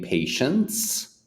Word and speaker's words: patients: and you see many patients, it's the same pronunciation. Patience, patience. People say, well, there's two different words. Why do they sound the same?